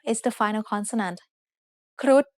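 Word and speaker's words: ครุฑ: ค ร ุ ฑ is said with a high tone because of the rule low-class consonants with dead syllables and short vowels make a high tone.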